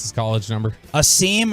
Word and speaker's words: Asim: Asim or Awesome? Asim Richards? Awesome Richards is what the pronunciation guide from the NFL said.